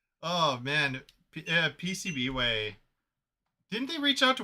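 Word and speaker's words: PCBWay: And Pronounce AC97. HD, Dan? PC Binway. Oh man, PCB Way.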